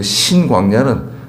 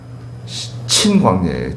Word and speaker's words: 신광야: 그 신광야는 새로운 광야가 아니라 그 단어 발음이 친이에요. 친인데 우리 한국 사람들이 약간 예전에 우리 성경을 번역하실 때 약간 신으로 들리신 것 같아요. 친광야예요. 친광야.